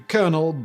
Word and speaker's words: colonel: the middle French coronal this was pronounced pretty much like it looks at first and then later slurred down to konel by the English but using the same